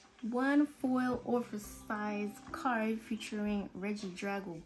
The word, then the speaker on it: Regidrago: okay how do you say his name Reggie Drago all right guys so we're gonna open up Reggie Drago crowns in it what look at this so